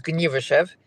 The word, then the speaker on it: Gniewoszów: How do you pronounce it? Anita, would you like to do the honors? Gniewoszów. Okay. Gniewoszów.